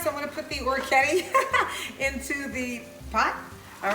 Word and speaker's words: orecchiette: It's at this point now you want to put your macaroni, your orecchiette, you said it right, in the bowl, in the pot that you cooked that you blanched your broccoli rabe in, okay?